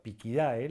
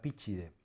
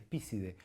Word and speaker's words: Picidae: Por ejemplo, Picidae, la familia de los carpinteros, que evolucionó en el latín tradicional a Píchide. Por supuesto, si alguien pronuncia perfectamente en latín tradicional y dice Píchide, lo vamos a entender. Pero en el círculo académico utilizamos Picidae. Y lo que no existe definitivamente es Pícide, porque eso es un